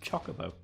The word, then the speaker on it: Chocobo: one and i'll have you know it's actually pronounced chocobo i think it's probably chocobo right no it's